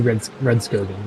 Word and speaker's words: Rudskogen: I say Rudskogen, yeah. Not Rudskogen? No. It's a G, not a J.